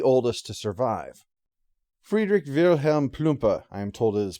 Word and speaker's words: Plumpe: it certainly the oldest to survive friedrich wilhelm plumper i am told it is pronounced son of the owner of a cloth